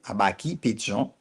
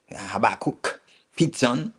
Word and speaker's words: Habakkuk Pichon: Habakkuk Pichon, okay, Habaki Pichon, Habaki Pichon. That's the way to say it properly, but in English, Habakkuk Pichon, okay.